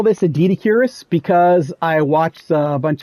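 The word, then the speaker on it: Doedicurus: sort of thing, and scientists referring to this as Dedicurus. A lot of people pronounce it as Dodicarus as well.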